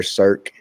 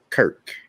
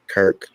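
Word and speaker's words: Circe: However, Cirque was in fact originally a Greek goddess where her name was written as Kirk and pronounced as such, just as in numerous similar cases of words of Greek origin.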